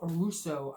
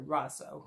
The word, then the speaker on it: Rosso: shield this is a Phil Russo Mark or Rosso sorry Rosso gotta say it right out of Port View